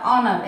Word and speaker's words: honour: Next ఆనర్, HONOUR, ఆనర్. According to అవర్ rule, if the letter comes before O, we should not pronounce it.